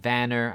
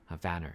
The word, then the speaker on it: Warner: him Vanner inste Warner vaner I think ver is German name so every W you got to you just got to pronounce it as the as the V way so Vanner will be